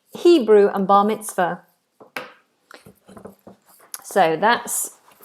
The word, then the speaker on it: Hebrew: Be careful with the H that you don't constrict it. We don't say Hebrew, Hebrew. In many languages, the H is constricted. In the UK, in English, it's not. Hebrew, Hebrew.